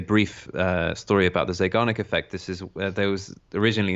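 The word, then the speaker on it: Zeigarnik: Actually, there's something called the uh the Zanic effect which is relevant as well. How do you spell that? Uh Z E I G A R N I K. Zic effect.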